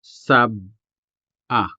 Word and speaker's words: sab-a: First up is sub-a, sub-a, which is a specific type of cooking banana, which you can see in the picture right here. Again, notice the sudden pause between the syllables. Sab-a. Saying saba would translate the Hiligaynon sab-a into Tagalog.